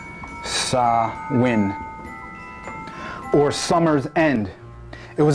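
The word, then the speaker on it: Samhain: part in an Autumn festival called samh actually pronounced sawin it's it's pronounced sawin or Summer's end it was a celebration of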